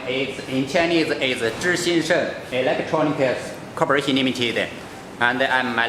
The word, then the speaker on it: ZhiXingSheng: Oh, my company name is in Chinese is ZhiXingSheng Electronics Corporation Limited, and